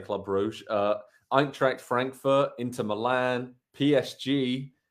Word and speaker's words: Brugge: So Man City can play Club Brugge, as the locals say, but we'll say Club Brugge, Eintracht Frankfurt, Inter Milan, PSG, Leipzig, and AC Milan.